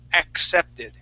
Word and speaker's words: accepted: e accepted okay so we want to have a uh a C Sound before that s sound so we're gonna say accepted accepted try that accepted